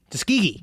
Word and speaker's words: Tuskegee: Tuskegee. Yeah, thank you. Thank you for changing my pronunciation.